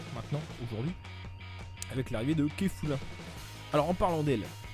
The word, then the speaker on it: Kefla: Alors en parlant d'elle, ils ont mis Kefla parce que, en fait c'est Kefula, parce qu'enfin... Enfin, ça peut s'écrire comme ça, mais en fait, quand tu prononces à la japonaise, c'est K-A-F-U-R-A.